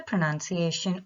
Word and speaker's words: pronunciation: The split is pr, nun, she, a, shin.